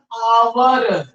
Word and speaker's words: hour: उसी तरीके से इसको आप देख लीजिए, HOUR, स्टार्ट तो यच से हुआ है, लेकिन इसका हिंदी प्रोनाउंसिएशन होता आवर, आवर। ठीक है, आवर होता है, और आ वर्ड हिंदी का वावेल साउंड होता है।